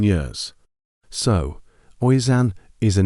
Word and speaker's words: Oisin: Next up, a popular boy's name, Oisin, spelled Oisin. This one is pronounced Usain.